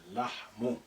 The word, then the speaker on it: اللحم: So the first lam is silent. Say اللحم.